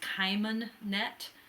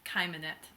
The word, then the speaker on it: Cheimonette: K, but more precisely, it's more like the CH in Bach, or kind of guttural, like Hebrew.